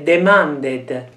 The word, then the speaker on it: demanded: Quindi, Giuseppe, questa è demanded. Demanded. Demanded. Quindi la parola finisce con una D e quindi la vocale va pronunciata.